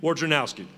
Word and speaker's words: Wojnarowski: But our National Sports Writer of the Year, Marty McGee, we can't ever pronounce his name correctly. We just go with Woj. But it's Adrian Wojnarowski.